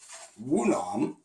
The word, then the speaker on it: Yunam: And as I've described before, pattern Wunam, it's spelled Yunam, but pattern Wunam, is actually the pattern that predated pattern Choong-Jang.